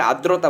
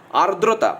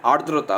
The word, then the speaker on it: আর্দ্রতা: অনেকে আদ্রতা বলে। আদ্রতা নয়। আরদ্রতা মানে আ দেখো দয়ফেলা রেপ আছে এখানে। তাই না? আর্দ্রতা হবে উচ্চারণ। ঠিক আছে? আদ্রতাও বলা যায়। কিন্তু সঠিক উচ্চারণ এটা হবে আর্দ্রতা।